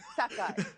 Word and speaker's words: Sakai: So I kind of have to be like behind you and, correct your pronunciation. Sakai. Sakai.